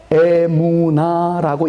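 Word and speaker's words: אמונה: 믿음으로 말미암아 살리라 그랬어요 이때 사용된 단어가 히브리어로 애무나라고 읽혀집니다 다니엘이 하나님께 기도하는 것이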